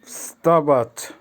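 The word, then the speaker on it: вставать: স্তাবাচ, স্তাবাচ, এখানে ভটা উচ্চারণ হবে না, বলতে পারি স্তাবাচ, স্তাবাচ, ভটা মুখের মধ্যে থাকবে, স্তাবাচ।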